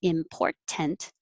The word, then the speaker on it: important: are particularly important and important can be pronounced perfectly like that with a t or more casually without that t in port i'm going